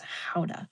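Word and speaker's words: Gouda: And um, the way they pronounced it, they taught us how to pronounce it the the right way, the Dutch way. and it's howa like how to.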